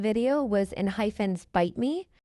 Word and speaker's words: ENHYPEN: So it's pronounced enhyphen, enhyphen.